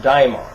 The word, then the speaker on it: daimon: It originally was spelled with an A. It was D-A-E-M-O-N, daimon.